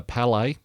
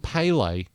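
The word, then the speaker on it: Bálor: then finn balor turns around hits the uh palais that's how his name is actually pronounced michael cole palais not pele palais that's people who actually watch soccer slash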